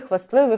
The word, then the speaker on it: хвастливий: є зап'ясний, кислявий, писливий, хвастливий, хвастнутий, хворосняк і 16. У цих всіх словах ми пишемо букву «т», хоча вона не вимовляється в усній мові, але звук «т» записується.